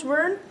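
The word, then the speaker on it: Verne: well let's learn ha speaking of learn it rhymes with Vern who is the author of the book who inspired her name have you ever heard of the author Jules Vern uh no I think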